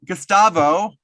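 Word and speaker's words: Gustavo: Today we are going all the way over to Brazil with Gastavo, right? Did I pronounce it correctly?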